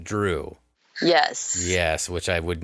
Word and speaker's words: Zhu: and as I found out z hu is pronounced drew yes yes which I would never have guessed